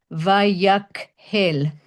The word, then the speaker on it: Vayakhel: And it's pronounced, by the way, I hate to correct Alan, but it's Vayakhel with a kuf, because it's from the word kehillah, community or congregation.